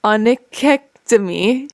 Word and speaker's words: onychectomy: It's spelled onychectomy. I'm going to try to say it. Onychectomy.